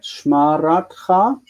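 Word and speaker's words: שְׁמַרְתְּךָ: Shmaratcha, the same principles. He should have marked the rat as the stressed syllable, shmaratcha, because that's where the stress wants to be on this word, on the feminine forms.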